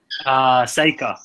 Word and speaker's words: Sakr: Sakr. Sakr, thank you.